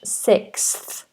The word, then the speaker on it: sixth: have all these sounds so we have s s s s f six six six okay so if you're just doing six on on its own take away the th and you've got six six and then with the th sixth sixth sixth but trust me native